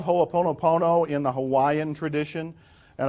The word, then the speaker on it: Ho'oponopono: do you spell it ho o po no PO no every syllable gets written but you don't need